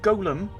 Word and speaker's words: golem: It's pronounced Golem.